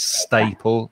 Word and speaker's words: staple: that l e we pronounce it if you were to write it you would probably write it e l but english spelling is very is very difficult so the l e staple it's e l okay yeah and the vowel sound you need for that a is is a and the same as in words like stay or way or day so it's staple stapler yeah that's right okay